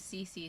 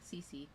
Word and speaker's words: Cece: Her name's Cece, so it's spelt with just like 2 C's, like cubic centimeters, like a bike. So Cece.